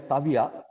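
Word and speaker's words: Seville: Actually, when they write it Saville, but when they pronounce it, they call it as Savia.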